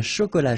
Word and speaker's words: chocolat: Un chocolat chaud. Remember, C-H, chaud. Chocolat. And then final T not pronounced.